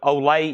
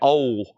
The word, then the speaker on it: Olay: Olay EO that time I was always calling it old like o e o like that's the old songs and then I found out they one of that pronounced Olay Olay yellow Chad needs a